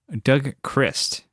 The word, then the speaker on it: Doug Christ: And then we have Doug Christ. That's the correct way to say it.